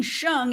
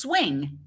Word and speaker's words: Hsiung: of the defendant and mispronouncing Wayne shung as Wayne's swing that's weird that's just